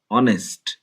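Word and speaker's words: honest: article হবে না অ্যান অনেস্ট ম্যান একজন শর্ট লোক অ্যান অনেস্ট ম্যান অনেস্ট এইচ এর উচ্চারণ অ এর মত হওয়ার কারণে এখানে এন ব্যবহৃত হয়েছে এইচ এর উচ্চারণ অ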